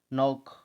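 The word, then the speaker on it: knock: आगे देखो, नॉक। यहाँ पर के साइलेंट है, आपको के को बोलना नहीं है किसी के अंदर भी, साइलेंट।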